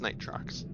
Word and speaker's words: Nitrox: able to install uh nitrox i think is it nitrox am i pronouncing that right yeah i have synaptica on on steam and and xbox as well yeah it's night trucks i do this thing